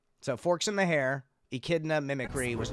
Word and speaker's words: echidna: That's an echidna.